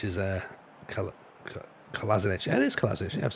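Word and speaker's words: Kolašinac: Kalazanic is... Kalazanic. Yeah, it is Kalazanic.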